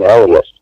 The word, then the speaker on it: Elias: And then by the time the third movie rolled around, truth be told, except for Elias, and he actually pronounced his name Elias when we were on the set, except for Elias, nobody that was in the third movie was in the first movie.